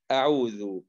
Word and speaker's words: أعوذ: تقول أعوذ، الذي وهكذا. في أي ذال ينبغي أن تنطق بهذه الطريقة، طرف اللسان يلامس أطراف الثنايا العليا، ذا ذو ذي.